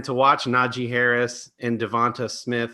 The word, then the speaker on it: DeVonta: watch naji harris and devonta smith i don't care how he pronounces it it's devanta um those guys are just